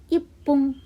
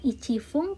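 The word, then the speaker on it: いっぷん: Hai, kita lihat 1 menit ipung. Hai, ipung ya, bukan ichifung tapi ipung.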